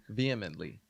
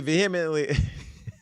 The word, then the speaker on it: vehemently: is not how you vehemently vehemently okay the attorney said Mr Kelly vehemently vehemently what H is silent vehemently veh okay the attorney